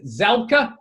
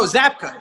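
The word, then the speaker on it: Zabka: pronounce Williams last name zela no zapka zapka zapka I'm the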